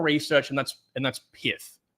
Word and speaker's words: Pyth: and that's and that's pith pith pyth I think the official pronunciation for this is pith I just don't like that name so I'm G to call it pyth I'm calling it pyth that's that's what I'm